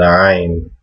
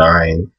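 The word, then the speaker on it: عين: Arabic was pronouncing the Ayn. It is in the throat, but it's a consonant. It's not a vowel.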